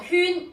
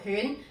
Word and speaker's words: 煊: 普通話讀宣旋，粵語可以讀圈，亦都可以讀犬。咁用作人名嘅話，兩個讀音都得，都係呢